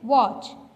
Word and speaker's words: watch: Pronounce कर रहे हैं, T तो हम प्रोनाउंस ही नहीं कर रहे, हम ये नहीं कह रहे वॉच, नहीं ना. तो यहाँ पे T साइलेंट है. वॉच, butcher, स्क्रैच, Christmas.